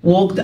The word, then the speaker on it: walk: يتجول في، walk around، walked around، طبعا الألف walk بتبقى silent، walked around، يكتشف، discover،